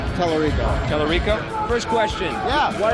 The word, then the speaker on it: Tallarico: Tallarico.